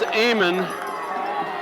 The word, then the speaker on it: Amen: Their name is Amon. It's spelled Amen, but it's pronounced Amon, I understand.